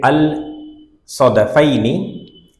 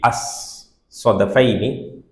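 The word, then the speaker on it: الصدفين: I read it al-Sadafaini, but when you pronounce it, it should be as-Sadafaini. You don't say al.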